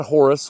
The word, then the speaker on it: Hor: The god Horus was so revered, and he's so key to the Egyptian mythological pantheon that you see Horus everywhere. Now, the Egyptians did not pronounce his name Horus. The Egyptians pronounced his name Hor, H-O-R.